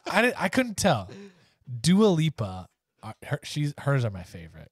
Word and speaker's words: Dua Lipa: topic is music videos oh the i still can't pronounce her name right help me out the is it britney spears oh duolippa do a leap the answer you're looking for is dua lipa do it lipa i didn't